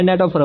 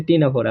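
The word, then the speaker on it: Ctenophora: আবার দেখো দ্বিধিপতিসম্য যখন আমি এসএসসি ছিলাম তখন এই শব্দটারে প্রথম যখন পাই আমি তখন এটারে ন্যাটোফোরা উচ্চারণ করছিলাম। পরে যখন এইসএসসিতে উঠি তখন স্যারের কাছ থেকে শুইনা দেখি এটা হচ্ছে টিনোফোরা। তো আমার মত কেউ এটারে ন্যাটোফোরা উচ্চারণ করে না। এটা আসলে টিনোফোরা।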